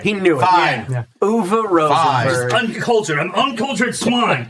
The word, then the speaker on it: Uwe Rosenberg: I'll show you the choices so you can see how it's spelled. Uwe Rosenberg is how you pronounce that name, but he knew Fine. it. He knew Fine. it. Yeah. Uwe Rosenberg.